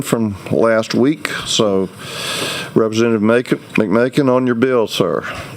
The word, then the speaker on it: McMakin: We'll start out with Representative McMakin to wrap up his House Bill 97 from last week. So, Representative McMakin, on your bill, sir. Like bacon. Rhymes with bacon.